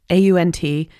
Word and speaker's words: aunt: So, I just believe that aunt that aunt a u n t is pronounced aunt for a reason because ant is already taken.